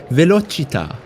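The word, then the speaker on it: velocità: but now I know it's definitely Italian like the pronunciation guide I'm going to click the button velochita oh boy I'll I'll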